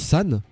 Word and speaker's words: san: Sun se prononce San, qui veut dire Ni veut dire 2 et Go veut dire 5.